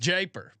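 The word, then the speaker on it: Jaipur: grade one uh jyper Stakes how do you pronounce Iran that's what I would have said japer japer you got it well you got it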